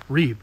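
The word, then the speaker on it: Rueb: ree Chevrolet in Leola rub rub Chevrolet ree ree yeah but they a lot of people called it rubbe but it's ree Ru e b that's how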